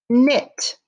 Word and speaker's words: knit: what is the person doing knit and look at that kn says k-n-i-t k-n-i-t knit remember the k is silent in k-n knit so now i'm going